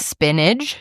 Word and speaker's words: spinach: Are you putting a G at the end? What do you want to say? Spinach. Spinach. Pistachio. Yeah, spinach. Spinach. You're saying spinach. No, spinach. Spinach. That's how you say it. No, you do not. Yes, it is. There's no G.